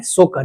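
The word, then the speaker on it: Tso Kar: सोकर इसका इंग्लिश में टी एसओ होता है। टी साइलेंट हो जाता है हिंदी में।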